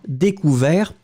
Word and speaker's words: découvert: découvrir découvert il a découvert on finit avec le t on ne le prononce pas mais là je regarde